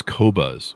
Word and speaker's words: Qobuz: And they have some of the highest quality, high-res music in the world, but for the longest time, I couldn't pronounce their name, and it's Qobuz.